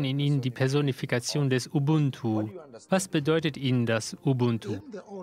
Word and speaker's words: Ubuntu: In unserer Sprache Kirundi spricht man das T nicht aus. Man sagt Ubuntu.